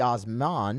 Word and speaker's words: Osman: Osmond. This would be Osman. Right? M-A-N, not Mon.